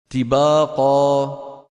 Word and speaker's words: طباقا: يقول فطال مجهوره ايضا من جمله الاخطاء في نطقها ترقيقها نحو طباقا تباقا تباقا تباقا الدال من جمله الاخطاء